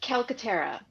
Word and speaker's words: Calcaterra: ask you before we started going how you pronounced it but i forgot to so it's calcaterra okay have you seen the peacemaker yes you